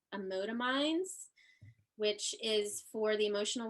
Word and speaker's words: Emotiminds: Emotominds. Emotominds, it's like emotion and minds together.